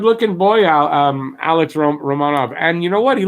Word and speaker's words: Romanov: fans in that arena romano i'm trying to say romanov every time because that's how his name is pronounced so at least he's